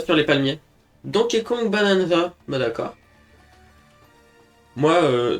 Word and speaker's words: Bananza: Donke Kong Bananza. Ben d'accord. Moi euh des fois je prononce Donke Kong bananaza comme banana split.